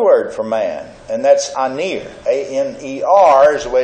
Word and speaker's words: aner: But there's another word for man, and that's aner. A-N-E-R is the way it's spelled in English.